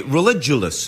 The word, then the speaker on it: Religulous: I'm here with Bill Maher, who's your documentary Religulous. Is that how it's pronounced?